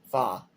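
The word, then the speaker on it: 花: Mandarin the Disney film uses the Cantonese pronunciation pronunciation fa of her family name in Mandarin her name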